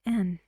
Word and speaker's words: and: about these two and we don't say and ah when we have it in sentences and it connects two words with each other in here you say end end gorillas and gorillas and gorillas and chimpanzees you see it's very fast and quiet the sound in and we say end